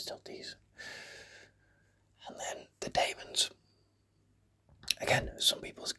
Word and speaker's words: Daemons: I say Daemons. If you say demons, fine, but you are wrong.